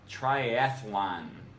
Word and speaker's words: triathlon: Number 10, triathlon. Most of us add a syllable that isn't there, pronouncing it triathlon. It's actually just triathlon.